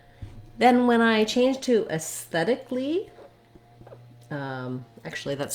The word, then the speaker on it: aesthetically: And in reality, we only add one syllable. We just add the sounds li, an L and an E sound. So you don't want aesthetically, but rather aesthetically. The syllable stress doesn't change. We just tack a little li on. This is a pattern in words like basically, automatically, etc., where often that A-L-L-Y just says the li sound, and we go right